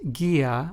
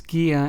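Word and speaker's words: guía: the English word oo but sometimes it is also silent in Spanish but only when the word has a g before it and an e or I after it for example let's take the two Spanish words Gia which means guide and gantis which means peas notice how the U in these two Spanish words Gia and gantis is preceded by the letter G and Then followed by the letter i thus making the U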